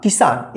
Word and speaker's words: किसान: तो अगर आपको बोला जाता है लिखिए किसान, किसान यानी जिस अक्षर पे ई की मात्रा का लगा रहा है ई की मात्रा और उसमें उच्चारण थोड़ा कम समय लगता है उच्चारण करते समय, तो समझ जाना आप छोटी ई का मात्रा लगाए, जैसे किसान है।